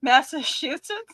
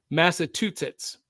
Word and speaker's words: Massachusetts: Massachusetts. Massachusetts. Or like my mom used to call it, Massachusetts. Okay. That's a common mispronunciation in the United States, by the way.